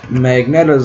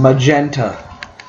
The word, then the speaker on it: Magenta: numbers of U magnet I've been pronouncing it wrong this entire time magenta magentas maybe their numbers will